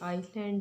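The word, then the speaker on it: island: इसी तरह से जिसमें जो है वो साइलेंट रहेगा एस, जैसे कि आइसलैंड है, इसमें हम इसको इतना ज़ोर दे के नहीं बोलेंगे.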